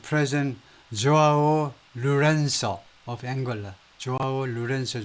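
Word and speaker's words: João Lourenço: 조아오 루렌소 정도로 발음을 하는데 has continued to visit far off destination.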